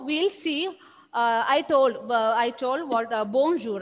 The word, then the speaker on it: bonjour: And when you pronounce bonjour, the last letter R will be silent.